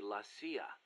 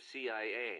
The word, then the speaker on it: CIA: around here they say la sia instead of c.i.a huh um nothing strange about it that's how it's pronounced when you read it in spanish it has the feminine